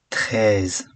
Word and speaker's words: treize: Treize. TR is not tre, but tre, treize.